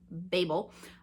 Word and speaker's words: Babel: Some people call it Babel. Uh I grew up in church and we pronounce it Babel like Tower of Babel uh by R.